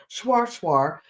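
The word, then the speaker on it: shweshwe: How do you say Schwarzwar? SHWA SHAW, Schwarzwar.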